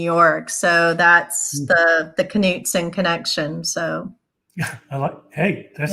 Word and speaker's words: Knudson: please reach out to to Lori and it's pronounced Knutson if right when I first when I first